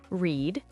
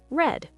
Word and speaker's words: read: Read in the past tense is spelled the same as read in the present tense, but we say it differently. Present, read. Past, read. Let's practice.